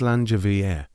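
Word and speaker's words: Slàinte mhath: In the Highlands, we do not just say cheers, we say Slaintpaf, pronounced Slangevier. This is a historical fact that means good health to the person you are drinking with.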